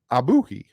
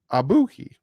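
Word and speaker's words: Ogbuehi: so I wrote it down phonetically and it's pronounced ah boo he abuki Cedric abuki but if you look at that o g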